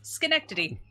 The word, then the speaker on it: Schenectady: Synecdote. Yeah. Not spelled the way it sounds, but yes, Schenectady. I spelled it phonetically.